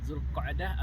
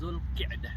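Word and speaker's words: ذو القعدة: Ada 2 cara baca, Zulqa'dah ataupun Zulqi'dah. Yang mana bulan Zulqa'dah ini masuk ke dalam bulan-bulan haji.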